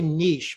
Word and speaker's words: niche: say i say um i say niche because it rhymes with rich actually there are all